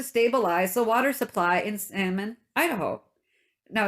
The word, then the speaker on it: Salmon: the water supply in salmon idaho now it's spelt salmon like the fish so i hope i don't pronounce the l the beavers save the